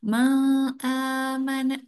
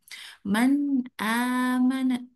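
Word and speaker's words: مَنْ آمَنَ: Jadi jangan ma amana jangan ya. Jadi harus jelas a-nya. Man amana.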